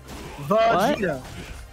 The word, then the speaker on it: Vegeta: Outsider, why did you spell Vegeta V A G? Vegeta. It's Vegeta.